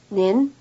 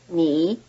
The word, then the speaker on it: 你: Second, the polite word is in the rising tone, nin, while the plain word is in the low tone, ni.